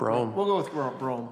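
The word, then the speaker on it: Brougham: thank you Mary Weir is it Brom or Brew ham Burger we'll go with Rome all right that's how we pronounce it um so the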